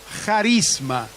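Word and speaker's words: χάρισμα: En griego carisma se dice charisma, la tipo X, pero se pronuncia como J.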